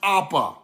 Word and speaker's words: Abba: Abba is pronounced Appa.